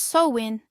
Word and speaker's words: Samhain: It is Sam Hine, pronounced Sowin, the ancient Celtic festival marking the end of summer's warmth and the solemn ushering in of winter's chill.